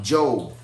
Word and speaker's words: Job: it spells job but it's pronounced job rhymes with robe a little bit of